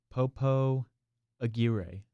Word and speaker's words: Popo Aguirre: With Popo Aguirre. That's how it's pronounced.